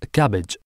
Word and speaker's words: CABG: coronary artery bypass grafting or CABG pronounced as cabbage a surgical procedure in